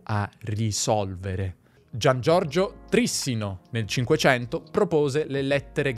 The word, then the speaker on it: Trissino: che per molto tempo ho letto il suo cognome Trissino un po' come un grissino, forse perché sono torinese. Prima di imparare che in realtà si pronuncia Trissino. E questo perché io ho sempre letto il suo cognome, non l'ho mai sentito, e in italiano la pronuncia Trissino, con l'accento sulla penultima sillaba, è naturale. Ma è sbagliata.